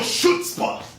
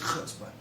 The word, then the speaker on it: chutzpah: you got real 'shoots-puh'! Or c-chutzpah. Or however the Yiddish pronounce it. First, call me. Secondly, it's 'chutzpah.'